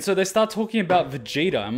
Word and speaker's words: Vegeta: it with me because we pronounce it as vegetta and so they start talking about Vegeta I'm like where's the J and then I